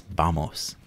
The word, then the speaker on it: vamos: Or sorry, excuse me, spelled with a V, but it's vamos.